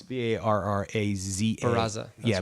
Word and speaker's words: Barraza: Adriana Gazara? Yeah, I can spell it. It's Barraza.